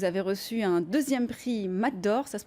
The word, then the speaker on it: Mat d'Or: En 2018, vous avez reçu un 2e prix Mat d'Or, ça se prononce comme ça.